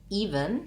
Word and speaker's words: even: Even has first syllable stress, so this E actually says the E sound. And then we either have a schwa or almost no vowel sound in the second syllable.